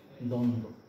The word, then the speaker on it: দ্বন্দ্ব: যদি এই বফলা না থাকতো যেরকম লিখতাম আমরা ঠিক সেইভাবে লিখব, তাহলে হবে দম দো, দ্বন্দ্ব। একটা শব্দে দুটো উদাহরণই আছে, কোথায় উচ্চারণ হয় না, শব্দের শুরুতে থাকলে উচ্চারণ হয়